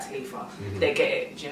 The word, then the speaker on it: Taliifah: But yeah, the original spelling is actually TELETHA. Okay. Right? Yeah, so it's Taliifah. Yeah. However, grown up in Hackney with broken English people. Nobody pronounces their THs, so it always got like turned to Taliifah.